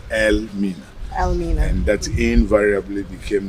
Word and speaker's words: Elmina: Yeah, so our people at that time couldn't pronounce it properly, and it was corrupted into today's word, Elmina.